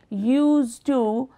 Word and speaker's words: used to: So when alone in this sentence, the pronunciation of the final sound d, d in used. However, when it is part of the phrase used to, the final d sound is dropped.